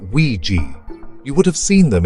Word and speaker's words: Ouija: They are spelled Ouija but it's pronounced Ouiji.